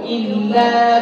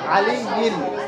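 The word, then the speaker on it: العلي: ইলে বলিও না, আলিয়্যিল, আলিয়্যিল, ইলে বলিও না, কেমন?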